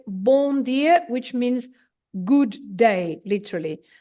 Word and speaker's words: bom dia: you wouldn't mind when filamina is teaching some pronunciation here go ahead and repeat after filina yeah Bor dear very good well done everybody uh then if